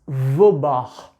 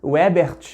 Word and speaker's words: Weber: Na verdade, é Max Weber. Pronuncia comigo aí o alemão, olha, Weber. Não é brasileiro gosta de aportuguesar tudo, né? Não é nem Webert, nem versão Webert Richard, não é isso.